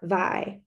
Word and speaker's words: Vi: We call her Vi, rhymes with pie."